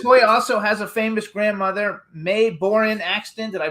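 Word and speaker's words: Mae Boren Axton: So you guys also has a famous grandmother May Borin Axton. Did I pronounce it right?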